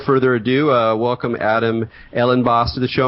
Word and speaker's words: Ellenbaas: So, with with all no further ado, uh welcome Adam Ellen Boss to the show. Am I pronouncing your your last name correctly, Adam? Yeah, that's right. It's Ellen Boss.